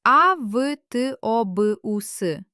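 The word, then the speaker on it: автобус: The letter v turns into f not only at the end of a word, but also if it stands before another voiceless letter. For example, the word avtobus. We write a v t o b u s, but the letter t is voiceless and it infects the letter b with its voicelessness and it becomes avtobus Incredible.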